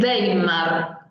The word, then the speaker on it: Weimar: En la política urbana, en la Alemania de Weimar, es el nombre de una ciudad importante después de Berlín, se la pronuncia como B corta siempre que veamos una W en alemán. Weimar.